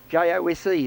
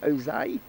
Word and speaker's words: Jose: J-O-S-E is the way you spell it, but I think in Mexico we pronounce it Jose. Jose. We'll call it Jose.